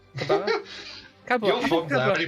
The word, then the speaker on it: Cabra: That's Your Kabara? Cabra. You're from there. Any pronunciation you say goes like.